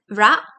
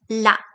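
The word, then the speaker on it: ら: So for this ah, it would be would be like ra, but you can pronounce it as ra, or you can also pronounce it as l, la, or maybe a mix between those two.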